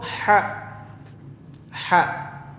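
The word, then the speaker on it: ح: Huruf ha ini itu keluarnya atau makharijul huruf, tempat keluarnya hurufnya itu ada di kerongkongan. Kerongkongan sebelah tengah.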